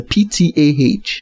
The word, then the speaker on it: Ptah: It's a Ptah, all right? Now, what does that sound like? You know what tar is?